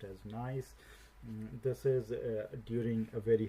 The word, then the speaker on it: gneiss: So this is pronounced as gneiss.